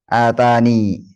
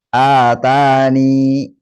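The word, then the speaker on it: آتانِ: Atani. Jika diwasal ya-nya di fathah. Sedangkan jika waqaf terdapat dua cara. Yang pertama, menetapkan huruf ya dengan mensukunkannya dan dibaca panjang dua harakat menjadi atani. Yang kedua, membuang ya-nya dan mensukunkan huruf nun. Berarti atan.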